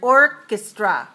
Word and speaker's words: orchestra: how about the word Orchestra orchestra three syllable stress the first syllable right not the second orchestra now let me